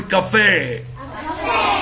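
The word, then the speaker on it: café: واي بننطقها اس بريسليت عليها عند الاي شرطه صغنونه كده الكلمه دي عشان جايه من اللغه الفرنسيه عليها الشرطه دي اسمها اقصاء الشرطه دي اسمها ايه الاجسام دي تخليك تنطق اخرها ايه تقول كافيه كافيه كافيه كافيه يبقى دي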